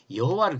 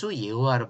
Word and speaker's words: 여호와: 영향을 받은 한글 성경은 여호와를 그대로 표기했어요이 여호와와 지금 제가 여호와가 있는데 사실은이 히브리어는 여라 발음이 없어요 발음을 못 한게 아니라 여하는 발음 자체가 히브리어에 없어요 근데 왜 들어왔나 요것은